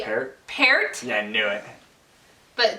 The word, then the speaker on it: Peart: I've heard it always as Neil Peart. So that is incorrect according to the Canadians. Probably It's supposed to be Peart, Yeah, I knew it.